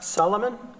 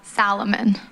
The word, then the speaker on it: Salomon: Uh next up, Solomon. Did I pronounce that right? Uh Salomon. Salomon. Yeah, that's okay.